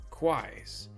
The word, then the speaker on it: Quai: It's like Quai, it rhymes, but CLI is a proper term there.